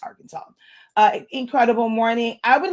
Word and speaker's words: Arkansas: North Carolina Alabama um I know it's not pronounce this way but I like to pronounce this way Aransas but Arkansas uh incredible morning I